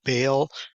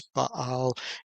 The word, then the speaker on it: Baal: And so many of you have heard the word Baal. As how it's pronounced many times in English, but it's Baal in in Hebrew.